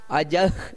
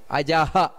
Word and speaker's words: ಅಜಃ: ಇಲ್ಲಿ ಉಚ್ಚಾರಣೆಯಲ್ಲಿ ಸ್ವಲ್ಪ ಗಮನಿಸಬೇಕಾದದ್ದು ಅಜಃ ನೋಡಿ ಅಜ ಅಜ ಸರ್ವೇಶ್ವರ ಅಂದ್ರೆ ಅಲ್ಲಿ ವಿಸರ್ಗ ಇದೆ ಅಜಹ ಅದನ್ನ ಒಟ್ಟಿಗೆ ಸೇರಿಸಿ ಹೇಳಬೇಕಾದರೆ ಅಜಃ ಸರ್ವೇಶ್ವರ ಅಂತ ಆ ರೀತಿ ಹೇಳಬೇಕಾದದ್ದು ಸಿದ್ದ ಅಲ್ಲಿ ಮಹಾಪ್ರಾಣ ಇದೆ ಅದರೊಟ್ಟಿಗೆ